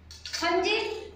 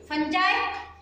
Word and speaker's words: fungi: फंजी, फंजाय, फंगी असे तिन्ही प्रकारचे उच्चारण करतात. तुम्ही डिक्शनरी मध्ये प्रोनाउन्सिएशन पाहून तुम्ही तिथला एक करू शकता, पण तिन्ही चालतात आपल्या लक्षात ठेवायचं शिक्षकाने बोलत.